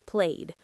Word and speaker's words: played: Played ends with a d sound.